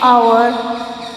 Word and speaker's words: hour: Next, for example, an honest boy, an hour. H is a consonant, but here the word starts with the vowel O sound.